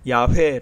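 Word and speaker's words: 야훼: 어떻게 불렀을까 를 연구해서 야외 라는 발음이 여호와라는 발음 보다는 보다 더 진짜 에 가깝다 고 말하고 있습니다 그런데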